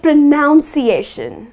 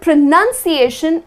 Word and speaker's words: pronunciation: However, the word pronunciation is spelled with n u n and not n o u n. And the correct way to pronounce it is pronunciation. Just the way it is spelled. Not pronunciation, but pronunciation.